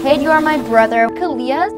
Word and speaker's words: Kalia: Kalia, your name rhymes with onomatopoeia.